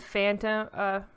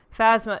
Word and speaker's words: Phasma: You get heroes, Finn and Phantom. I can't even say her name. Phasma, yes, thank you.